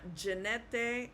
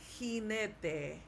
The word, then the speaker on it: jinete: All right, it's not jinete, it's jinete. J sounds like H.